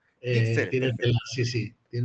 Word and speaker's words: Guixeres: Mi apellido se llama Guixeres. Gixeres, Tiene tela, perfecto.